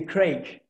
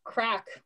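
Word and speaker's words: craic: i can type here what's the crake except it's pronounced crack what's the crack crack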